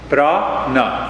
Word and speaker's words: prana: when we talk of prana brah na two syllables this he sounds good